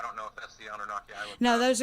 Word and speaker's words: Anunnaki: The Anunnaki, is that, how do you say it, Stephen? Anunnaki? Anunnaki, that's it.